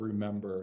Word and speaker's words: remember: So really lean into the second syllable of remember.